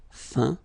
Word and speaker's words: feint: Okay, as usual, final T not pronounced. Atteint, éteint, feint, peint, teint.